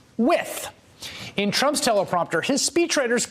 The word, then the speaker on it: Wythe: And although his name is spelled W-Y-T-H-E, it is pronounced Wythe.